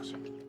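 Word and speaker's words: Strauss: 1947 Dr Oppenheimer an honor Mr St it's pronounced St yes well you love the can the position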